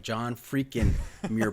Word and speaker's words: John Freakin' Muir: John Freakin Muir pod. There's no G at the end of freakin', so. That's how we like it, with an apostrophe.